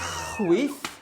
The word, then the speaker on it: chwith: Ar y chwith. Ar y chwith. So chwith rhymes with teeth.